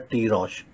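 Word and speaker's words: תירוש: शब्द H8492 दिया गया, जो कि प्रोनाउंस किया जाता है टी रॉश।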